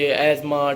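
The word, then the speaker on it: asthma: दम नहीं होता है अजमा होता है इसमें टी एक साइलेंट है ये कर ले यहां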